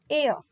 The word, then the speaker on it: heir: And this word pronunciation is air.